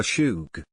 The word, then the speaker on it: Shug: here on 99 7 the shoog which I later learned is spelled the Shug local slang for my